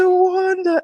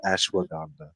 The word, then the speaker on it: Ashwagandha: Ashawanda. Ashwagandha.